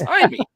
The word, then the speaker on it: Jaime: make me realize I've been saying his goddamn name wrong all these years Jaime yeah it's not Jamie Reyes it's Amy why I didn't think like I should have